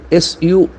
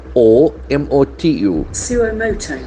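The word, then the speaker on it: suo motu: Initiate, the accent force the second syllable, initiate. HC initiates. Now comes a pure legal term, Suomotu. Suomoto.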